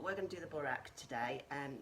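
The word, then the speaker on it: burek: So it's actually a Croatian dish called the burak, or borek I think is how it's pronounced, B-U-R-E-K, and it's a phyllo pastry dish.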